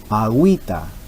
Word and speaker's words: agüita: Agüita, estamos pronunciando ambas vocales.